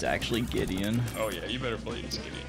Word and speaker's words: Gideon: had when you say it like that it's Gideon it's actually Gideon oh yeah you better believe oh okay I